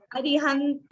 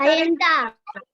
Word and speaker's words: अरिहंता: अरिहंत मंगलम। गलत है। तो करेक्ट क्या है Vanya? What is the correct? हरियंता, हरियंता।